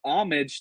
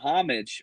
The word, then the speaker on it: homage: Romy says it's pronounced homage, not homage.